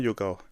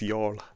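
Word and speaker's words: Youghal: It's not yoga, it's y'all.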